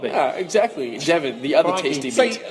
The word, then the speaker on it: Devon: So it's like Devon, like the county.